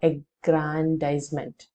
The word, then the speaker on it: aggrandisement: against his mother's shoulder this word is pronounced as aggrandisement or aggrandisement the meaning is an